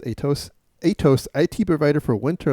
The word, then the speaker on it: Atos: here is uh atos I think it's called pronounced atos atos it provider for Winter Olympics hacked months